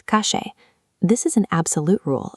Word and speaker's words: calle: In Buenos Aires, both the double L and the letter Y are pronounced with an aggressive SH sound. "Calle" becomes "kashe".